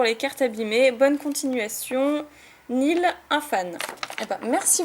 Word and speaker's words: Niel: Qui se prononce Nil.